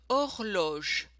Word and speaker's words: horloge: Now you notice we don't pronounce the letter H in French. So just ignore it. Or, vol, sort. Un volcan, un volcan. Un bol, un bol. Un trésor, un trésor. Une horloge, une horloge.